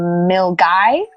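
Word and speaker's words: Milngavie: glad to go this part called mil guy however it spelled milgavi and there's another place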